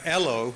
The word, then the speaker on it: ELO: But ELO, with E in caps and the other two letters in lowercase, rhymes with hello, or hello in Australian.